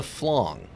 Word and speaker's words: flan: Okay, so it's technically it's a flong.